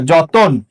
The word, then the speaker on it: যতন: লক্ষ্য করে, এই যে যতন, আমি যদি বললাম জয়ের সাথে একটা কি আছে? অ আছে, কিন্তু উচ্চারণে কখনো এই জ হয় না, উচ্চারণে সবসময় বর্গীয় জ হয়, জ। পরবর্তী বর্ণে কি আছে? এর সাথে একটা অ আছে, এই এর অটা উচ্চারণে ও হয়ে যাবে, যতন।